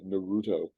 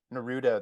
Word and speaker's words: Naruto: in America say it Naruto I think I think it makes more sense for English speakers to stress that middle syllable and so that's why but even the English dubs as Naruto well they know a